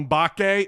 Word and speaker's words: Mbake: guys enjoy the show samuel bake or samuel bake the m is silent is he gonna be